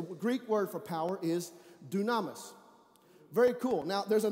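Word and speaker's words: δύναμις: word dunamis it's pronounced it's spelled dynamis is pronounced dunamis everybody say dunamis dunamis is power it's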